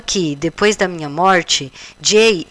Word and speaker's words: Jai: quero fazer essa palestra Jai pronuncia-se J que é a mulher